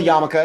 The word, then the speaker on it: yarmulke: It's called a yarmulke. It's spelled funny in English.